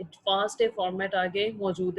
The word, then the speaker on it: FASTA: Be very careful, it is pronounced as फास्ट ए। इसको फास्टा नहीं पढ़ते। अब मोस्टली जो है वो ये रूटीन फास्टा पढ़ जाते हैं, बट लेकिन ये जो इसका सही प्रोनाउंसिएशन है दैट इज़ फास्ट ए।